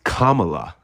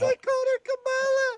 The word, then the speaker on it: Kamala: It's Kamala and you can just say Harris, if you have Camala, if you want